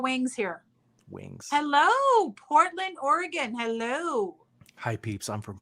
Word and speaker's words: Oregon: there and you have you can't say Oregon you have to say Oregon like it's Oregon like an organ in your body or an organ you play just letting you know